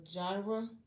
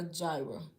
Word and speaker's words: Jira: So that's when I started Mailchimp, a gyra, a gyra. I probably still said it wrong. It's either a gyra or a jira.